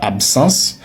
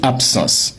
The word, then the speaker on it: absence: Letre ba devant S là la son P. Donc c'est pourquoi on ne dit pas absence mais on dit absence c'est la même chose que pour absolue.